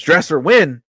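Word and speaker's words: Dresser Winn: his name was wi dresser his name is dresser win that's just a quarterback a backup quarterback name right there dresser win Cleo like like Cleo lemon that's that's just just a backup quarterback dresser win um coming in to round out that room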